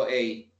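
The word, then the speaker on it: eight: Recordemos, cuando digo 8, pronuncio la T al final. 7, 8, 9, 10. ¿Verdad? No solo digo 8, sino que hagamos el énfasis. 8. A la T al final, 8.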